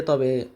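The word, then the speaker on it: ت: এখানে আমরা যখন তা উচ্চারণ করি তখন আমরা কোন বাতাস নির্গত হয় না। কিন্তু আরবি ভাষা বা কোরআন তেলাওয়াতের ক্ষেত্রে আমরা যখন তা উচ্চারণ করব তখন আমাদের হালকা একটু বাতাস নির্গত হবে।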